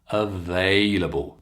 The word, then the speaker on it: available: For example, take the word available. Can you hear? Available. I'm stressing the they, that long A sound.